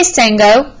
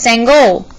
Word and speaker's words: Sangoel: his teammates ran up hey sango my name is sangol he called softly as